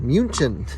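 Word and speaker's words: München: highway heading towards munich or as it's written munchin it's spelled pronounced and uh said differently all in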